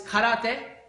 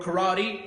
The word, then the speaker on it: karate: you should first practice karate as it's pronounced in Japanese or karate as we say in English and then you should